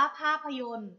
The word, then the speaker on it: ภาพยนตร์: แรก ค่ะ คำ ว่า ภาพยนตร์ ภาพยนตร์ อ่าน ว่า ภาพยนตร์ ภาพยนตร์ ประกอบ ไป ด้วย พอ สำเภา สระอา พ.